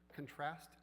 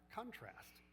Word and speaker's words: contrast: Rhythm matters even in the single words. For example, record contrast, contrast, project, project, or produce or produce. These can either be nouns or verbs depending on which syllable is stressed.